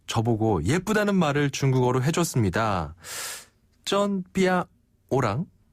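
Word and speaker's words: 真: 그래서 쩐 자체는 맞아요.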